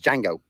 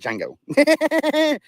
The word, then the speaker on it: Django: And it's jango. The D is silent. It's jango.